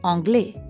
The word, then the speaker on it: anglais: both are masculine and although they both end with an s you don't pronounce it so an englishman would use anglais but an english woman